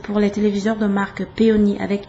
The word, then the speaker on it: Peony: Pour les téléviseurs de marque Peony, comme ça se prononce, mais sauf que ça a un Y à la fin.